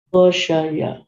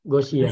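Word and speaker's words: غشي: Gosya atau Gosia? Ghasyiah. Punya 4. Tinggal pilih antara 11 atau 12 kan? Ya. Yang betul ini, Gosia. Ghasyiah. Ya, ini harus dihafal memang.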